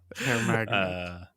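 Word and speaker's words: Herr Magnet: Again, because this is a German company, that's spelled HERR. Magnet translates to Mr. Magnet, but it does pick up hair.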